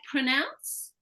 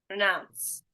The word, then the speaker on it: pronounce: word like pronounce we've actually got two there right we've got two consonant clusters here yeah what you're not doing is this so you're saying like pronounce renounce right now if you say renounce that's a different word altogether as well so we need that P another example instead of